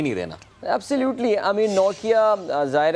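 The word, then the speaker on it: Nortje: We were saying नॉट या बट बताया नहीं जी ये नौकिया ये मोबाइल फ़ोन के नाम से मिलता जुलता जो है ये इनका है.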